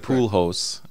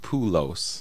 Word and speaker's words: Poolos: then what you said poos I said poos like the baseball player but my last name is pulos pulos okay okay yeah yeah